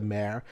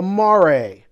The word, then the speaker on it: Mare: No, not the mayor. The Mare. Get your pronunciation right, Jason.